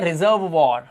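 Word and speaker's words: reservoir: इसे पढ़ते हैं रिपर्ट वॉर और इसे पढ़ते हैं रिजर्व वॉर। क्यों? क्योंकि यहां पर आप देख रहे हो ओ आई के बाद आर लगा हुआ है। तो ओ आई का उच्चारण इसने वा कर दिया।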